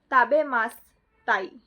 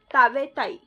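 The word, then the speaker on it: 食べたい: This is the wrong way, and the correct way to say it is tabetai. You just have to add tai to the dictionary form and drop the mas. So tabemas, drop the mas, tabetai.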